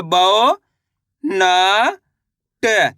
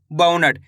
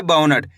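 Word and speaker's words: बौनट: औ बाउनट। ऐसे नहीं पढ़ना बोनट। कैसे पढ़ेंगे? बौ। बौ करके उच्चारण निकालना है बाउनट, तभी जाके सही से औ की मात्रा का उच्चारण निकलेगा।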